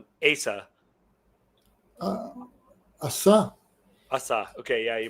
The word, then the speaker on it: Asa: Uh, Asa. Asa. Okay, yeah, you pronounce it that way. I pronounce it Asa because I knew a bass player by this name, and so I'm just going by his name.